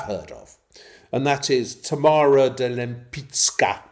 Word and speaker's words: Tamara de Lempicka: And that is Tamara de Lempicka. Note my pronunciation. Okay. It's Polish pronunciation.